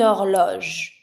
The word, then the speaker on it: horloge: last R, un miroir, une horloge. And the H is mute.